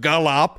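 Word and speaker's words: G'Lop: like G apostrophe Lop which would be pronounced Gallop it sounded like you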